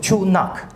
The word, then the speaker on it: Chu Nak: legs uh eastern chunna that's the local pronunciation chu nak or black water okay but they